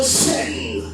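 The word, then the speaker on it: חן: Le mot grec qui définit le mot faveur, c'est le mot chaîne.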